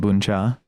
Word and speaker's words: bún chả: It's called boncha.